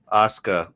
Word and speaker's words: Asuka: Asuka. Is that how you say that? Yeah. Asuka.